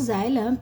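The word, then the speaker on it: xylem: कि जलम and phellem ये बच्चों इनमें प्रोनंसिएशन भी बहुत इंपॉर्टेंट होती है क्योंकि इनकी स्पेलिंग्स अलग होती है और प्रोनंसिएशन अलग है this is जाइलम and this is phellem ये नाम है दो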